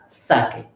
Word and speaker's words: sake: we have already discussed how we have to pronounce this particular word as sake next one expensive expensive